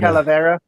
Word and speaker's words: Calavera: Calavera. Yes. That is how it is pronounced.